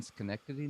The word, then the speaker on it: Schenectady: So reading on your website, I also noticed, and you may have to correct my pronunciation. Sure. Sort of started in Schenectady, New York.